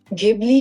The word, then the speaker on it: Ghibli: अगर मैं इसे हिंदी में बोलूंगा तो इसे घिबली बोलूंगा।